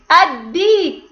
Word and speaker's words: الديك: الديك. كتبنا حرف اللام الشمسية ولم ننطقها، وجاء الحرف الذي بعدها فوقه علامة الشدة.